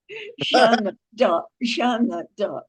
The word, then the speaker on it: Jeanne d'Arc: Well, how do you pronounce correctly? Jane d'Arc? Jeanne d'Arc.